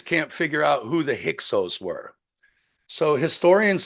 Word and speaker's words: Hyksos: And the reason they can't figure it out is because Hyksos is a word from the Irish, spelled Tigsaus, but pronounced Hyksos, which means the upper house, a Magian priest or a spiritual shepherd.